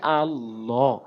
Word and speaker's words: আল্লাহ: না, আল্লাহ বলা যাবে না, বলতে হবে আল্লাহ। হামজা লাম জবর আল্লাম খারা জবর ল, আল্লাহ হাফেশু, আল্লাহ। এবং কখন লাভ বলবো এটি ভিডিওর শেষে বলছি, মনোযোগ সহকারে দেখতে থাকুন।